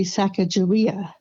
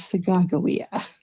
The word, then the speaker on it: Sacagawea: I used to say Sacagawea, but she told me, no, it is Sacagawea.